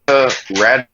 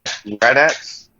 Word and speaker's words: Raddatz: I did have, I don't know how to pronounce this lady's last name. Martha Radatz? Raddatz.